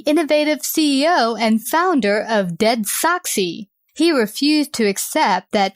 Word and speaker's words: DeadSoxy: You went from working as a farmer to building a Dallas-based company, DeadSoxy.